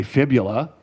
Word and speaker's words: fibula: Everybody say fibula. That rhymes with nebula, I guess.